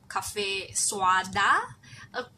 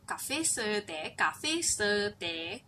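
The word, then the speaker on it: cà phê sữa: Also some one taught me you have to say the pronunciation was like cafe suada according to the spelling, but so I've been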